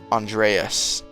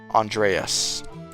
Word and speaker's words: Andreas: And you still haven't pronounced my name right. It's pronounced Andreas. Andreas.